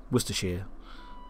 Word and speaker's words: Worcestershire: those that speak American English, some of the pronunciations like Worcester, Worcestershire.